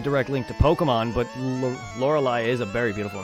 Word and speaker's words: Lorelei: link to Pokemon but Lorelei is a very beautiful name yeah the pronounce it where the live part rhymes with the why yeah well that's